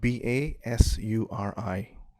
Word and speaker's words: basuri: uh the fruit i couldn't yeah it's called b-a-s-u-r-i right pronounced basuri yeah okay thank you um somebody